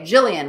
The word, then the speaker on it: Jillian: Okay, Jillian with a soft G. I'm sorry I said it wrong.